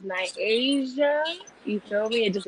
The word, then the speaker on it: Nyasia: from upstate new york you pronounce it as my asia you tell me it